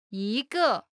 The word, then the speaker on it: 一个: 一个，一个， Pronunciation note. When 一 is followed by a fourth tone. It changes from the first tone to the second tone.